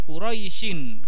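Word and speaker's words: قريش: Nah, di bacaan kita Bapak Ibu, ini dibacanya panjang 6 harokat. Jadinya gimana? Quraish.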